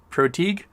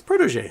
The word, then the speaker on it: protege: What am I supposed to say? Proteague? Like you don't, I don't. That's protege. That's how you say protege.